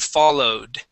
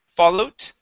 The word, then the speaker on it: followed: So we've got rolled and followed. Okay. Now, when you're pronouncing those EDs, they are sounding like T's.